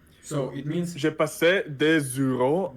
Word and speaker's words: des heures: J'ai passé des heures. So we don't pronounce often this S, but because we don't